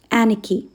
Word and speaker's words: anarchy: Second word anarchy. Anarchy. R is silent.